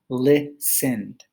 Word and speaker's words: listened: but usually in english when you add the ed to the end you do not add another syllable so looking at the next word it is listened many brazilian students would